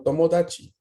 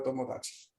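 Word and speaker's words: 友達: Tomodachi es la creación, ¿no? de la palabra tomo y el sufijo tachi, que cambia su pronunciación, ¿no? Se suaviza esta TAD, ¿no? Para indicar, ¿qué cosa? A ver, ¿quién la conoce? Mm, ¿no es amigos? So des. Entonces, tomodachi se forma de tomo más dachi, que sería la variación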